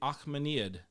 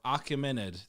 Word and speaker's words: Achaemenid: It's also called the Achaemenid, right? Or Achaemenid.